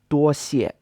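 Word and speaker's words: 多谢: And then another phrase, 多谢, also means thanks a lot. 多谢 is a first tone, then a fourth tone.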